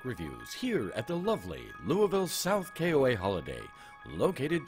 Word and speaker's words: Louisville: at this week peaches we are at the Louisville South Carroll a holiday it actually beaches the locals pronounce it Louisville oh well I'm not a